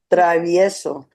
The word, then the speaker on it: Travieso: On page 6, fifth one down, Travieso. Hello. Okay, Yaya, you didn't pronounce all of the vowels. Travieso.